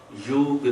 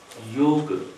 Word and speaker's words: योग: विशेष ध्यान देना है योग मैं क्या उच्चारण कर रहा हूं योग इसका उच्चारण बिगड़ करके क्या होना शुरू हो गया योगा क्योंकि एक ऐसा इंग्लिश के अंदर क्या डिशन है कि वो बाद में ए लिख देते हैं होम से होमा हो गया योग से